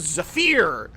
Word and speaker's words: Zephyr: Let's take out our little bow named Zafir. I know it's pronounced Zephyr.